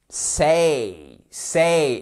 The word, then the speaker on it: say: Hello, show, out, now, page, say et pas c'est. C'est pas un c'est prononcé comme ça.